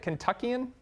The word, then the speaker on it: Kentuckian: as a fellow Kentuckian is that how you say it Kentuckian that's exactly right you got it man all right